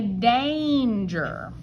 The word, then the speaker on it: danger: And normally, if A is next to N, it is whiny A and it goes eh. But we don't say danger. We say danger.